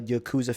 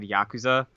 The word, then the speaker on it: Yakuza: way to do it I have always said Yakuza and I know the people from easy allies that love that series I trust how they would pronounce it because they love it so much they call yaksa okay I'm not I'm not